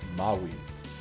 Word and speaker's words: Maui: Uh doing a quick detour from the video because again in my comments, I've had someone correct me about the pronunciation of the word maui.